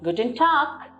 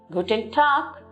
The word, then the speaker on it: Guten Tag: You can see the letter G at the end, but we do not take the G pronunciation, rather we take the K pronunciation.